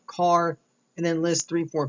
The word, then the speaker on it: car: The next function we'll take a look at is called car. Yes that's right, it's car as in the automobile.